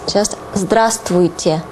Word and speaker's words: здравствуйте: And please mind that you don't pronounce V here. This would be difficult even for native speakers. So it's just здравствуйте.